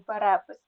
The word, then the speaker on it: перепис: перепис ми будемо говорити Чому перепис наголос на другий склад і деякий деякий в